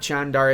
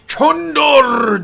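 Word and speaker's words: Candar: And I know it's not Chandar, it's Chandor! That's how you're supposed to pronounce it, eh?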